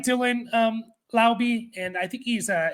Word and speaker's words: Laube: Dylan Lobb or Lobby, I always forget how to say his second name, his last name. But he's another player. I think he is rostered for a lot of people. That being said, Madison and Amir Abdullah are free agents for the Raiders. And Dylan Lobby is the only – Laube is how you say it.